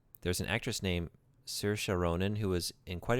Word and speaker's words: Saoirse: That's how you pronounce Saoirse. There's an actress named Saoirse Ronan who was in quite a few films in the last half decade.